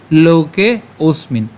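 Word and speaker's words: লোকেঽস্মিন্: একদমই সহজ আমরা এট প্রথম থেকে খেয়াল করি উচ্চারণটি কেমন হচ্ছে লোকে ওসমিন লোকে ওসমিন এখানে কেন ওসমিন হচ্ছে এখানে যে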